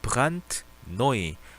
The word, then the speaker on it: brandneu: 자, brandneu. 이게 영어로 brand new라고 하죠. brand new라고 하죠. 이걸 독일어로 brandneu라고 합니다. 자, 이거 자체가 원래 D는 단어 끝에서 T 소리가 나죠. 그래서 brandneu라고 읽어줍니다.